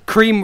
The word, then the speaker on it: Kreme: Wait, cream rhymes with meme.